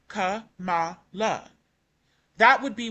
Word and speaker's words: Kamala: And then uh when it comes to the vice president, former vice president um Kamala, even though I've always heard that name pronounced Kamala in the Indian culture and when Indian people